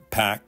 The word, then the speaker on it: PAC: independent political action committees pack rhymes with Spa now they'll likely go